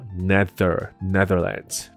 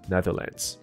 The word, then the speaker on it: Netherlands: 咬舌头的部分， So Netherlands Netherlands。